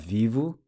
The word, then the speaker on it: vivo: So summarizing the present tense verb endings for regular ER verbs using viver as an example, we have vivo, the O pronounced with a U sound, vive, the E pronounced